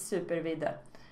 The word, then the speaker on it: Supervidde: in case you are wondering how to burn pronounce my name it's super Veda but you can just call me super or